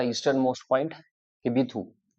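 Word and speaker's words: Kibithu: eastern most point of India Bharat का eastern most point Bharat का eastern most point किबीथू के आई बी आई टी एच यू ये याद रखना किबीथू फिर से स्पेलिंग सुन लो के आई बी आई टी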